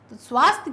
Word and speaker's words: स्वास्थ्य: गलत ग रहा है स्वास्थ्य क्या है स्वास्थ्य या का उच्चारण क्लियर होना चाहिए स्वास्थ्य कैसे लिखा जाएगा